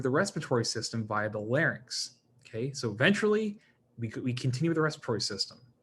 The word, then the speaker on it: larynx: fun of anybody, but you want to pronounce these as like larynx or pharynx, okay? Because just the way it's spelled, some people say pharynx, and I think what they're doing is they're switching the N and the Y, right? So just be careful with that one.